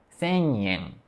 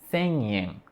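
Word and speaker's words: 千円: E tem o nasal. Que surge em palavras, a gente até coloca um apóstrofo quando do palavras assim, como, eh, "sen mil ienes", né? "Sen yen". "Sen yen". A gente não tem nenhum ponto de articulação, nada o obstrui, né, a nossa pronúncia, mas a gente ativa o nariz e para pronunciar, para "sen yen".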